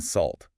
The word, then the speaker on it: salt: And also at the very end in salt. That final T is almost always stopped in American English especially. Your tongue goes up, stops the air.